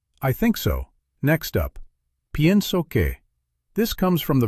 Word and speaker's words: pienso: Just like with creo que, after pienso que, you use the indicative mood because you're expressing what you believe to be true. Let's practice pienso que. Notice the pronunciation. Pienso, pienso. The IE sounds like yeah.